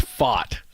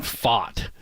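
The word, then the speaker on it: Pfaadt: that but it's Brandon fought well it's the t is silent I guess so and the D are silent yeah fat like fought like I fought somebody which I never would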